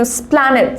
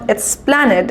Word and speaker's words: Esplanade: So Prerna is saying I am going to Esplanade. So এর উচ্চারণটা it is not Esplanade, it is Esplanade.